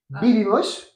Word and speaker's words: vivimos: Parce qu'en fait, vous le prononcez B en fait à chaque fois. La UV? Ouais. Ouais. Vivimos. Il y a des exceptions où n'avait pendant les prises entre deux vocales qui sont différentes. Mais là, comme c'est la même vocale, on prononce B.